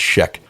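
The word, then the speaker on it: Schaech: I looked it up I heard him pronounce it it's Sheek but uh doesn't seem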